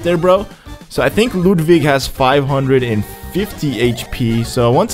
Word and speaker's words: Ludwig: lem's room no it's ludvig ludvig vonas his name is ludig it's with the I think it's like German or something that's why it's pronounced that way ludvig all right let's